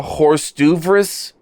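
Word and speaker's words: hors d'oeuvres: I believe those are horse d'oeuvres. Yes. Perfect pronunciation.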